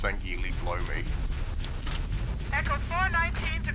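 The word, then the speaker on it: Sangheili: That was, I shot through his dumbass to get the other Swangwirly. Yes, I know it's pronounced Sangili, blow me.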